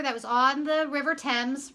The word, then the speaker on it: Thames: This is how you spell Thames. Okay, it's not Thames. It's pronounced Thames.